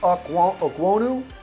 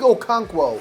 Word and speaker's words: Okonkwo: Chig Okwonu. This is going to be like one of those phonetic portions of the segment where I'm like, whoa, Okonkwo. Chig Okonkwo, I believe, is how you say his name, the tight end.